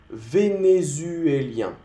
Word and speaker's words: vénézuélien: El U no se pronuncia U, se pronuncia U, O, O, U. Haces un sonido O y tú pones tu mandíbula más arriba. Hemos visto este sonido. O, U.